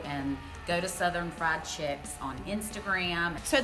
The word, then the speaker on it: Chics: chicks on Instagram so there's no Kan and chicks it's ch hi I CS it's like Chic but Southerners we we pronounce chick or Chic chick so it's kind of a play on word give it to us